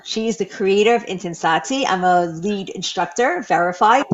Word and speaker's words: Intensati: Intensati, Intensati.